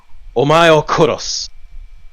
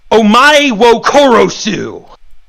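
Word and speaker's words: お前を殺す: Anyone who's watched Gundam Wing in Japanese knows the famous line Hiroyui says to Relena Peacecraft, "Omae o koros." And that's with a semi-decent understanding and grasp of how Japanese should be pronounced. Mark Musashi, as this character introduced as the name Peace, would say it like this: "Omae wo korosu."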